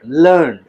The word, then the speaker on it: learned: Okay, scholarly, जैसे हम कहते हैं तो जब ये स्कॉलरली के मीनिंग में यूज होता है इट is pronounced as लर्निड, लर्निड, लर्निड professor, a लर्निड professor, ऐसा professor who हैज a good knowledge, who हैज a huge knowledge.